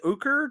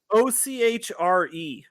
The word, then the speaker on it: ochre: ooze great and jelly ooker jelly i don't know how you say how do you spell it o c h r e ochre ochre jelly ochre jelly ochre so yeah